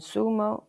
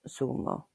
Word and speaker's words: zumo: However, in some areas of Spain, it can sound like a th. For example, here in Lanzerati, we would say zanoria meaning carrot, sapato meaning shoe, and sumo meaning juice. But in other areas of Spain, you will hear than sapato sumo.